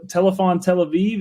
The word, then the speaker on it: Telefon Tel Aviv: interesting album today Fahrenheit fair enough by T telepon Tel Aviv is that how you say it Anthony yep